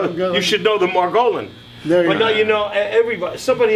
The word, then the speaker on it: Margolin: money muddy career and my name is pronounced Margolin but we're doing fine